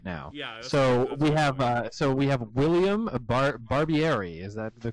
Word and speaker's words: William Barbieri: So we have William Barbieri. Is that the correct pronunciation of that name?